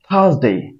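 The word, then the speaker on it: Thursday: thank you বলতে হবে বলতে হবে থ্যাঙ্ক ইউ থার্সডে এরপর আছে ফ্রাইডে এরপর আছে ফ্রাইডে এটাকে আমরা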